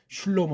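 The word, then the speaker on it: שְׁלֹמֹה: 걸 정한다면 솔로몬 솔로몬 구약은 이게 슐로모 돼 있어요음 달라요 구약 발음은 슐로모 그래요 슐로모음 슐로모 고요 이거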